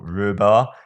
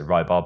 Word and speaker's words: Rybar: area the Russians say in rebar or rhubar to pronounce it correctly I always say rybar but I think that's wrong a situation in hysterical